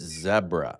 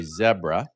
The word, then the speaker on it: zebra: the proper pronunciation because if we have anybody here from the UK, they're going to say zebra. And all people from North America say zebra.